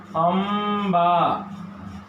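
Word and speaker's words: अंबा: जैसे अ और अनुस्वार, ब में आ की मात्रा, इसका उच्चारण होगा अम्बा।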